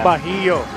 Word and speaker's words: Bahio: Pero ang pagkakaalam ko po talaga, at nanggaling din sa mga magulang ko, Bahio po talaga. Bahio.